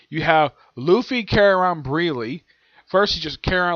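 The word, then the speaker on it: Brûlée: He calls her Brunch, even though her name is Breely.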